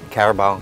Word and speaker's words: Carabao: Tania, in Chamorro, we pronounce the word Carabao, Carabao.